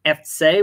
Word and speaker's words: Effzeh: the second syllable but in Cologne they put the emphasis on the first syllable it is a subtle